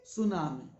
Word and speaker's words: tsunami: And T is silent. So we say tsunami and it is a Japanese word.